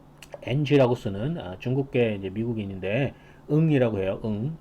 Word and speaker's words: Ng: 그리고 이제 그 딥러닝 강의로 굉장히 유명해지신 분이 있는데 NG라고 쓰는 중국계 이제 미국인인데 응이라고 해요. NG라고 쓰는 거는 이제 응이라고 읽습니다.